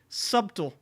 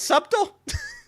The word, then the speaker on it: subtle: say a word like subtle and my wife goes the bee is silent I go the bee is silent and what subtle and she goes subtle this is what happens